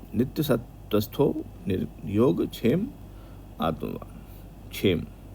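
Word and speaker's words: क्षेम: सतस्थो नियोग छेम आत्मवान छेम छे क्या होता है श क्या होता है आधा क और श उसको मिला के छ बनता है [नाक से की जाने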